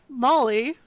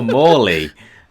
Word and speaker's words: Maulie: And then we have my cat, Molly, whose name is spelled Maulie because she has very sharp claws. Uh, Oh, Morley.